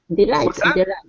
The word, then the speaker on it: delight: nice let's practice this delight yeah Delight the stress is on the end Delight Delight okay all